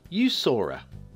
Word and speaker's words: Jusurö: Now, I had to Google this to get somewhere close to the correct pronunciation. Jusurö by Jusurö is what I'm going with.